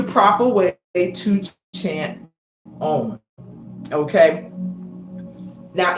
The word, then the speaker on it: Om: heard a million times probably said it wrong and that's own Now spell o m however many people use